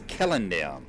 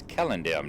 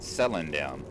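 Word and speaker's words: Celondim: It is Kellendem. Mindfiend and I have had that discussion that the C's are pronounced as K, so it's Kellendem, not Sellendem.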